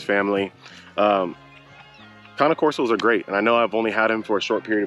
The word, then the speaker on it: Cane Corso: I thought it was Cane Corso. I've heard a lot of people say Cane Corso, but then talking to more people who own Cane Corsos, they informed me that it is actually Cane Corso.